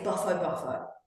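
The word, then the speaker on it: Bufo bufo: Um, baffo baff buffo buffo or buffo buffo and it is buffo buffo.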